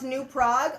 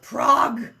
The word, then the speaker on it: Prague: way that people pronounce New Prague okay I'm just gonna I'm spitting it out there now they you guys say new prag it's Prague oh new PR yeah